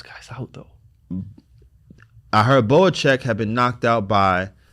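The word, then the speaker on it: Bohachuk: Can I get the pronunciation on this one? Boacek.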